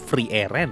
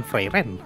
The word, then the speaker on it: Frieren: dan hanya untuk orang bacanya tuh freeen bukan freen Oke selama ini gua